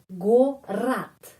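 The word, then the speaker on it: город: Kalau huruf O tidak mendapat penekanan, huruf O bunyinya pengucapannya ya. In other words, pengucapannya huruf A ya, bunyinya A. Jadi, gorat ya, gorat.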